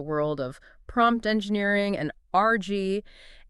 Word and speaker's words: RAG: Today, we're diving into the world of prompt engineering and RG. And yes, we're pronouncing it like uh like the thing you use to clean up a spill.